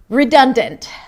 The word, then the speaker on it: redundant: We start with 'ri', 'ri'. It's an R sound and a relaxed 'i'. I hope you're doing it with me. I told you, close the door. 'ri'. Then we have 'duhn', like "I'm done with you". 'duhn', 'duhn'. It's a D sound, a cup, and an N. 'duhn'. And then 'd'nt', 'd'nt' .In the middle we have a schwa sound, it's a D and T 'd'nt'.